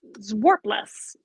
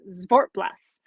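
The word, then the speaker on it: Zwartbles: November's um breed is zwas or I guess it's pronounced zort the the W is a v it's zort Blas wow um so this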